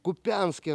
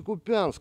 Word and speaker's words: Куп'янськ: А потім вже ж в Куп'янську родився. Я говорю, не Куп'янськ, а Куп'янськ. Якщо вже приїхав, то так от я говорю, научись правильно город називати. Ударение ставить.